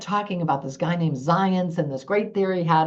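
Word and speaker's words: Zajonc: why does it say zad junk and who's the zence he keeps talking about till finally I realized you pronounce z AJ o n c as zence so science's Drive theory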